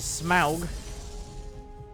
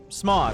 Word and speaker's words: Smaug: And last but not least is Smaug. Nope, Smog. You say it like Smog, right?